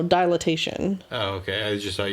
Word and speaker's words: dilatation: Dilation? No, dilatation.